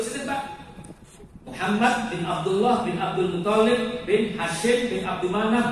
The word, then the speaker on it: Abdul Muttalib: Bacanya jangan dulu Pak. Toknya dua. Yang kasih itu di toknya.